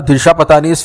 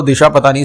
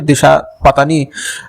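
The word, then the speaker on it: Disha Patani: अब ये तो दिशा पतानी से पूछे, और ये दिशा पतानी, आई थिंक ये करेक्ट प्रोनाउंसिएशन नहीं है, मुझे पता है, दिशा पत्नी, पत्नी, आई थिंक उसने खुद ने बोला है दिशा पत्नी इज the right pronunciation of her name.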